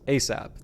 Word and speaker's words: ASAP: response is yes sir asap pronounced asap an acronym for as